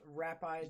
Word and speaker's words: Rapides: Pronounced Rapides.